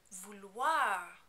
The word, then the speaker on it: vouloir: The infinitive looks tricky to pronounce because of the O-I-R combination at the end. This is actually a pretty easy sound to make though. If it helps you, you can imagine it as a combination of letters like W-H-A-R.